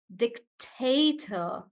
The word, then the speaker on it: dictator: Dictator on tay, dictator.